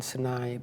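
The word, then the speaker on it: Sunnei: then you know why they called sunny I call it more than sanai because they said it's it's about sunshine it's about the bad way that Italian pronounce sunny it's an eye you know and so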